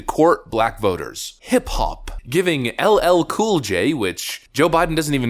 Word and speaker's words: LL Cool J: Giving LL Cool J, which Joe Biden doesn't even know who he is or how to pronounce his name, LLJ Cool J.